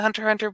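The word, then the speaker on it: Hunter × Hunter: ask him okay yeah hunter x hunter is the way it's you pronounce the hunter hunter but it's written hunter x hunter and the other one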